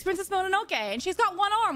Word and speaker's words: Mononoke: It's Princess Mononoke, and she's got one arm, which is kind of...